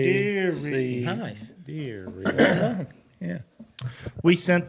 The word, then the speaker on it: Deary: You pronounced it right. Deary.